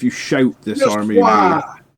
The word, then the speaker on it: Waaagh: shout this Just army Waaagh. rule. You don't pronounce the G. Do you not? No. Okay. Although apparently you have to now. You've got to pronounce it Waaagh now.